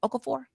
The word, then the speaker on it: Okafor: NBA center Jalil Okafor, is that how you say it? Okafur.